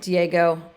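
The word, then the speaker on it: Diigo: So for this, you're going to use an application called, I pronounce it Diego. I've heard it pronounced different ways.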